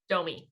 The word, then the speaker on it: Domee: right am i saying it right don't me domi yep you got your first sale now after